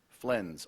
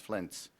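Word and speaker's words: flense: verb part of speech flens also pronounced flints when the members of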